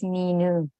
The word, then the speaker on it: Minu: Oh, say your name again. but I'm also known as Minu. Oh, Minu. I've been saying Mino all this time.